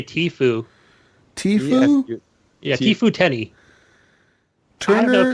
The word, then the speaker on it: Tfue: I just say Tifu.